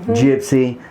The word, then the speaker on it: Gypsy: And I've jumped on to help you guys out here at the Rambling Gypsy podcast. That's a hard G on there, folks.